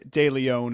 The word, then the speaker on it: DeLeon: De Leon. It's like De Leon.